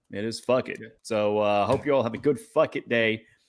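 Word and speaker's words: fakit: Also, turkey in Choctaw, if you don't know, is spelled F-U-K-I-T, and it sounds just like that. It is fuck it.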